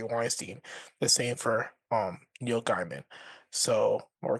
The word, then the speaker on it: Gaiman: I'm Neil pronouncing it Gaiman, wrong, yeah. Gaiman. Don't But say yeah, Neil Diamond did nothing wrong. I'm saying the G. Yeah, I'm probably not pronouncing the G hard enough, but it is what it is.